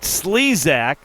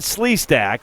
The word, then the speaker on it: Slezak: 40 knows about, but Slezak, not Sleasack with the hit right there.